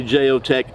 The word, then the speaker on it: Jeo Tec: to the effect of, I say Jeo Tec because I'm American, even though in Spanish the J is pronounced as a H in English sound. So in Spanish it might be Jeo Tec, but I read in English, I don't read in Spanish.